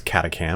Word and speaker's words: Catachan: over the mobility on this catacan or catachan whatever you want to pronounce it I prefer catachan because that's what I want to do you can look at